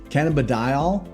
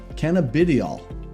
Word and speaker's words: cannabidiol: You'll hear it both ways, cannabidiol or cannabidiol. Either one works.